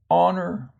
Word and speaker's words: honor: and then we have the H of course of horn and again uh that letter is silent in words such as honor and honest now the next column